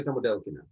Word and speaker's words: Samodelkina: I don't know where the emphasis is on. Sofia Samodelkina. Delkina. It's on the del.